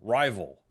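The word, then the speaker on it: RYVYL: Cuz this is called Rival Ink and it's spelled R Y V Y L Rival.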